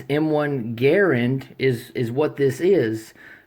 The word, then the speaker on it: Garand: Canada and uh John Garand now his last name has two RS g a r r a n d right it's basically Grand with an extra R and uh so basically it's M1 Garand is is what this